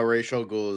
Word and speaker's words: Ra's al Ghul: Right now, Rachel Ghoul is. I always say Rachel Ghoul. I Ra's al Ghul.